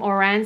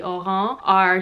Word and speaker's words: Oran: a mez i think people call them orang sandals but to pronounce it properly it would be oh ho are something that I'm looking